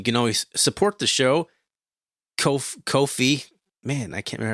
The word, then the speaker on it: Ko-fi: Ko-fi. Man, I can't remember how to say it. Kofi. It rhymes with no fee.